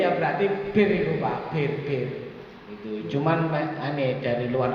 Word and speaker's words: beer: Bir ya berarti bir itu Pak, bir. Itu cuman aneh dari luar negeri ya, itu tulisannya BEER, itu bacanya bir ya gitu.